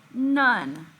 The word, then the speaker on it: none: n-o-n-e well let's listen none does this have a short o or a long o sound let's listen to it one more time none if you listen very closely this is actually making a short u sound this is one of